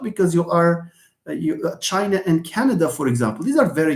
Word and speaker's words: Canada: Okay, Natalie, you are doing a great job because you are China and Canada, for example.